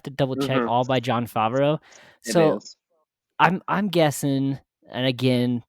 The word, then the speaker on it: Favreau: is a 2014 film I'm gonna butcher this guy's name John Favre oh right yes I say his name Favreau Oh Jon Favreau who's famous for a